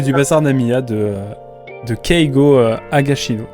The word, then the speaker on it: Higashino: En tout cas, voilà, les miracles du bazar Namiya de Keigo Higashino, si je prononce bien. Higashino, exactement. Exactement, voilà, donc le 3e livre.